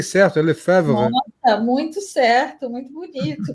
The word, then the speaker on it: Lefèvre: Falei certo, pronunciei certo, Lefebvre.